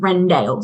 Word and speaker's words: Wrendale: My favorite brand of plates and cutlery and kitchenware is a brand called Rendale. So it's spelled Wrendale.